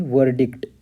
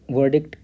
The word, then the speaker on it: verdict: तो ब्रिटिश में वर्डिक्ट और अमेरिकन में वर्डिक्ट, र साउंड आएगा इसमें, और र साउंड ब्रिटिश में साइलेंट। ठीक, तो अब इसका मीनिंग देखते हैं हम लोग। तो वर्डिक्ट जैसा जानते हैं कि जजमेंट।